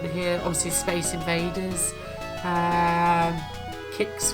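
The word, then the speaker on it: Qix: Obviously Space Invaders, Kicks, which I quite like, or Quicks, how it's pronounced.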